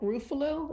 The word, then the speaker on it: Ruffalo: Mark Ruffalo. Is that how you pronounce the name?